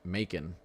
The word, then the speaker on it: Macon: Out a little bit to the west, out towards, I think it's pronounced Macon, like bacon.